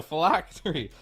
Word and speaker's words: Phylactery: And you can buy the new item, I'm not even going to pronounce it, what is it, Phylactery? You did it right. Yeah, nice. There you go, Phylactery.